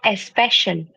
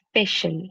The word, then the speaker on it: special: It is not espec special. So air will not come at all.